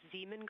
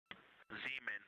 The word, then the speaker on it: Zeeman: Integrity Science, we believe that's Zeeman crater. Oh, I floated away from the speaker. Say it again, please. We believe that that is Zeeman crater. Zeeman, okay.